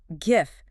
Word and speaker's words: GIF: It can be pronounced gif with a hard g like in grape or gif or gif with a soft g like in giraffe or the peanut butter brand.